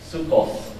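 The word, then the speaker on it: Sukkot: k o t but the t is pronounced like an S sukos it's um it's Monday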